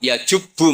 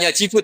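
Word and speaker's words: يجبّ: Terus Nabi ngendikan, "Alisu yajubbu maqoblah." Itu bacanya bukan yajibu tapi apa?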